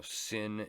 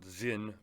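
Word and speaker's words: Sinn: see some you know sin in here or as you know you know I don't want to get called out Zin because it's not actually pronounced with an S um you know vintage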